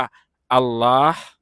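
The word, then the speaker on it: الله: เป็น ลน คำ นี้ เมื่อ เรา อ่าน รวม กัน เรา จึง อ่าน ว่า อัลเลาะห์ อัลเลาะห์ นะ ครับ อัลเลาะห์ นะ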